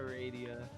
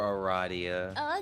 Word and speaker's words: Aradia: take over for for Aria no not if you pronounce her name like that I got this I can take her for Aradia okay red and red